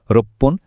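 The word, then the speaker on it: ろっぷん: কিছু সংখ্যার শেষে উচ্চারণটা ফান না হয়ে পন হয়। যেমন এই স্লাইডে দেখুন, 1, 6, 8 আর 10 মিনিটের জন্য আমরা বলি এপ্পন, রপ্পন, হাপ্পন আর জুপ্পন।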